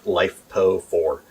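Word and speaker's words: LiFePO4: uh lithium iron phosphate it's commonly pronounced lifepo for um and we use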